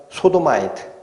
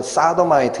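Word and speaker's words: Sodomite: 동성애자를 뭐라고 부릅니까? 소도마이트. 아마 발음은 사도마이트 이렇게 나올 거예요.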